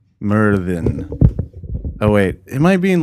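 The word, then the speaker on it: Myrddin: Yeah, so it's spelled like it would be pronounced Murden, but it's pronounced Merthin. Merthin.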